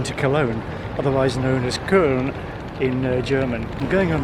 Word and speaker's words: Köln: And in case you're wondering why I said Köln instead of Cologne, I do habitually use the local pronunciation of place names where I can say it or where I know it.